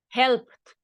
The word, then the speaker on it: helped: And if we have this ending, the pronunciation will be t. So in this case, present, original, help, with P right at the end, help. The past of help, helped, helped.